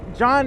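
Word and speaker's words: jawn: a philadelphia-based motovlogger model john but john is spelled j-a-w-n and that's uh that's a philadelphia turd john which really just means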